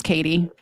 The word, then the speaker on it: Katie: do you say it Kate Katie my name's Katie okay so okay subscribe to your channel but